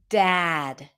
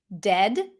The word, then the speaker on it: dad: A lot of times people either take it to the e sound, dead, dead, and then it sounds like a different word. Remember that if it's spelled with a, it's not going to sound like e.